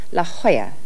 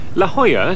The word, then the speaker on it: La Jolla: the northwest it's spelled la jolla but is pronounced la jolla la jolla spanish for the jewel is another wealthy suburb